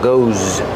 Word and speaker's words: goes: Pronounce it like a zz, like zebra. Goes.